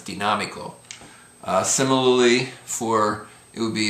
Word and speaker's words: dinámico: Dinámico, because it ends in a vowel, the letter O. If it didn't have the accent there, the accent would be on the second to the last syllable, so it would be dinámico. But because the accent, it's dinámico.